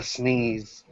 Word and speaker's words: SNES: SNES or Ness ones it's it's pronounced the sneeze sneeze in the knees okay um but I